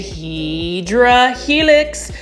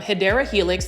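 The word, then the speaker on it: Hedera helix: You can see this one is a heedra helix.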